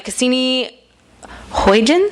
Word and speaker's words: Cassini-Huygens: He served on the Cassini-Huygens?